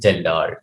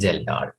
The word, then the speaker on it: Kjeldahl: Geldahl. K is silent. Its pronunciation is Geldahl.